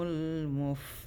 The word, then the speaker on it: المفلحون: So okay, أولئك على هدى من ربهم وأولئك هم المفلحون. If you don't have air, you're not saying it right.